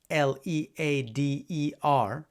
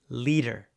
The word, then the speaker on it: leader: like these, L-I-T-E-R and L-E-A-D-E-R, well, in American English, both words get a tap, and the pronunciation can sound the same, like leader, leader.